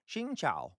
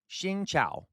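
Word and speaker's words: xin chào: Shingchow. Can you do it? So shin. And your voice has to go down with the cow. Okay. Down with the cow. It's tonal. Remember, Vietnamese is tonal.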